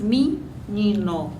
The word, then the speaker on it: menino: é o ni ni portanto na pronúncia na pronúncia nós dizemos minino geralmente ao invés de dizer menino nós dizemos